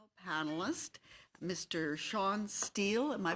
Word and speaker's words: Steil: Shawn Steil. Am I pronouncing it correctly? Steil.